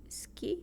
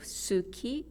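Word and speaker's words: 好き: when you say coffee ski coheski which means do you like coffee is omitted so instead of Suki it becomes ski or if I say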